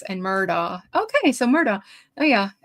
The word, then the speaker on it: Murdaugh: with an X and Murdaugh. Okay, so Murdaugh. Oh yeah, Alex Murdaugh. That's the way we say it. So, but in South Carolina, for some reason, the locals say Ellick and Murdoch.